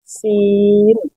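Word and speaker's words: سين: র, র, জা, জা, সিন, সিন, শিন। দেখুন দুটোর উচ্চারণ কতটা আলাদা হচ্ছে, একটা হচ্ছে সিন আর একটা হচ্ছে শিন।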